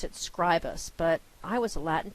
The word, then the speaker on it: Scribus: But I have a feeling that Scribus, they pronounce it Scribus, but I was a Latin teacher once. And this word's in Latin pronunciation, the I would be a long I, E, Scribus, Scribus, I don't know where they get that from.